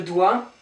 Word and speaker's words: doigt: have a T here, it's from the Latin word digitum, and digitum, you have a G and you have a T in the Latin form. So we kept these letters, although we don't pronounce them, we kept them.